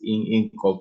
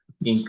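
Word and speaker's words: Inc.: how do they say even pronounce this? In Corp or what? How do you say Ink. it? Ink, right?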